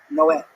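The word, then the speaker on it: Noé: Like in the Bible, the Spanish translation, it's Noah, but it's pronounced Noah.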